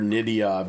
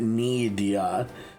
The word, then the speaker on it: Nidia: I've been just calling her Nidia, but it's it's she pronounced it Nidia. More of a different different pronunciation of the Y, I guess. Nidia, E instead of I or something.